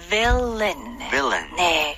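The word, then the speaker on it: villain: 배웠네요네 자 영어로는 근데 스펠링 주의하셔야 돼 v a 발음은 villin네 입술이 붙으면 안 돼요 좋습니다 자 여섯 단어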